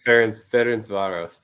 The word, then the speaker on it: Ferencváros: Is that how this team is pronounced? You're close. I have it as Ferencváros. So Ferencváros.